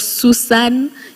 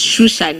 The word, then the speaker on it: Shushan: It's not Susan. It's not Susa. It's Susa in another language, but it's Shushan. It's Susa when you write it, but it's pronounced as Shusha, right?